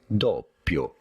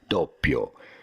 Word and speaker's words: Doppio: Doppio. You do want to stress on the first syllable and insist a little bit on the double P because there is a double P and it matters in Italian.